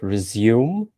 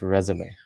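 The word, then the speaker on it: résumé: And a lot of people pronounce it resume or something like that. Because it's not, it's probably a French word. It's pronounced resume, right?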